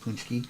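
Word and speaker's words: pączki: a c k z i like patki it's pronounced punchki yeah but um I'll see them here at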